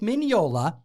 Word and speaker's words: Mignola: hellboy in its pages mike mignola get it right the g is silent he's italian he was invited to